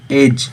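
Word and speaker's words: edge: समुद्री पक्षी ब्रिंक किनारा एज अब देखो एज है तो इसकी मीनिंग है ई डी जी ई तो इसमें डी जो है वो साइलेंट है और एक एज होती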